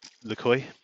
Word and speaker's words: LeCroy: I've watched a load of videos from like Ivan LeCoy. LeCroy? LeCroix? LeCroy, I think he is. That's how he pronounces it himself.